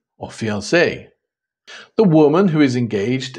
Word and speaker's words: fiancée: Fiancé or fiancée? The woman who is engaged is called the fiancé with the extra E, and the man, the fiancé. The pronunciation is the same, although the spelling is not, and you can blame